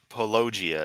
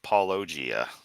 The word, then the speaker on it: Paulogia: Yes, and to be in with a nice reminder about Kent's speaking, he still says Brighton instead of Brightion and Pologia instead of Paulogia.